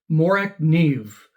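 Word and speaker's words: Morakniv: and stop listening to Blade HQ salespeople it's pronounced morak Neeve and here's the CEO of morac Neeve pronouncing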